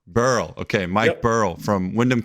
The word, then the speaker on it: Behrle: it so yeah man the H is silent it's just Burl Burl okay Mike Burl from